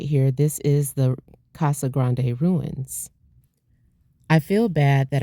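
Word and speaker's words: Casa Grande: I was saying it wrong and so I started saying it Kaza Grand, which I don't think that's the way you say it. I think it is Kasa Grande.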